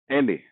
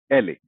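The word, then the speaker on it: ele: Next letter एले, आवाज देगा ल की, नाम है एले।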